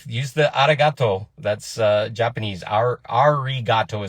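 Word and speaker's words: ありがとう: Arigato is the way it's spelled with an R, but they pronounce R's and L's.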